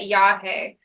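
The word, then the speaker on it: yagé: If you hear the term yahe, it's spelled Y-A-G-E.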